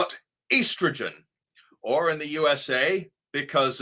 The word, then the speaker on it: estrogen: It's a long E sound. E, estrogen. And I'll tell you why.